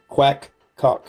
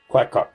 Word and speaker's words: QacQoc: And that is the QacQoc, and that is how it's pronounced, QacQoc, QacQoc.